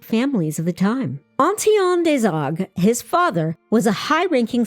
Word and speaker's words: Desargues: And it was here in 1591 that Gerard Dezog was born into a prominent family.